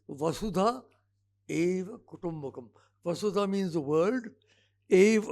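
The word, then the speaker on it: वसुधैव कुटुम्बकम्: Many people mispronounce it, particularly here in Delhi. कोई वासुदेव कहता है, nothing to do with Vasudev. It's Vasudha Eva Kutumbakam.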